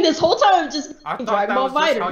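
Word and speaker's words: Dragon Ball FighterZ: You know how it looks like it's called Dragon Ball Fighter Z? It's actually not pronounced like that. Yeah, it's called Dragon Ball Fighters.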